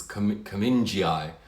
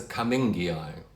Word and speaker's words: cummingii: Like there's a Hoya, which I've heard some people pronounce as Cummingii. It's not a Cummingii, it's a Cummingii. The person's surname is Cumming. It's not Cumminge, it's Cumming. In Latin, it's a G, not a J.